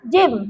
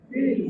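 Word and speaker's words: جيم: Ha bukan huruf jin. Ada tak orang kata jin? Ada mula-mulanya. Sebab apa dia punya ejaan jim ya mim? Dapat bibir jim. Jim. Ha macam tu. Kalau anak cucu tanya jangan sebut jin pula ya.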